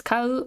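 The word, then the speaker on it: 買う: This one's pronounced as kau or buy.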